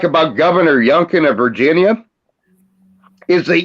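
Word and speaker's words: Youngkin: and the one thing I like about governor younken of Virginia is the Junkin rhymes with Lincoln if you use your imagination yeah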